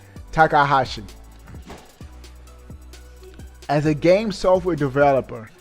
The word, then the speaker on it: Takahashi: All right, this is what Takashi says. Not Takashi 69. Shiota, Nintendo's Takahashi. I'm saying his name wrong. Takahashi.